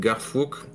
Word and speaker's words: Garfouk: One, the big boss, who is named Garfouk. I pronounce it the French way, so yeah.